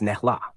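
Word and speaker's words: snälla: polite phrases one please is snella pronounced snela two thank you is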